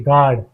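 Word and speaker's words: guard: जैसे कि गार्ड जी यू ए डी गार्ड इसे हम गार्ड पढ़ते हैं। यहां हमारा यू साइलेंट हो जाता है।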